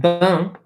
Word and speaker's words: bain: So like the word bain, or even like important. Right? So bain B-A-I-N is like a bath, right? Bain. Notice we have an A-I-N. It is pronounced un.